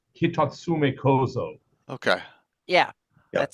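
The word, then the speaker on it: Hitotsume-kozō: Yeah, there is I believe, and Nijineko, who speaks Japanese, will probably correct me, but I believe it is Hitatsume Kozo.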